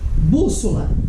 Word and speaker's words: bússola: Então ficaria assim, bússola. Qual é a sílaba tônica? Bus. Tá vendo? É uma proparoxítona, tem acento.